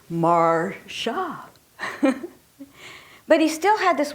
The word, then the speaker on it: Marcia: And you know, in the 5 years I worked for him, he never pronounced my name correctly. Even though I always said it's Marcia.